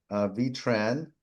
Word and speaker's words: Tran: Okay, Tran, am I pronouncing the name correctly?